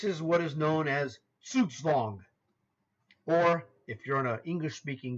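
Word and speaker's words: Zugzwang: guy like myself first it's a German word and you would say this word based on the way it's spelled in English Zug Zang which you may have used yourself if you weren't taught by somebody who was a much more uh educated chess player or someone who understands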